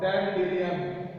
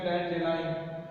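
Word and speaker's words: dandelion: जैसे water hyacinth plant का ही नाम है, और डैंडेलियन, इसका जो करेक्ट प्रोनाउंसिएशन है डैंडेलाइन।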